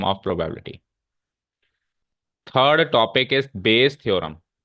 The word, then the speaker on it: Bayes: Third topic is बेस theorem, बेस की spelling है BAYES, बेस theorem.